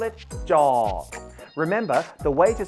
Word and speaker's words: จ: Jaw is a middle tone. It doesn't rise, it doesn't fall, so you pronounce it jaw.